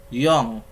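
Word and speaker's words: よん: Yong. Secara penulisan ditulisnya yon, namun dibacanya yong.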